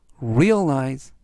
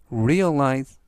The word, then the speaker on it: realize: 뜻이 되겠습니다 이번 단어는 realize realize realize라고 발음하시면 되겠고요 이때 강세는 앞부분에 있는 알파벳의 강세가 있고요 그래서 realize 발음하시면 습니다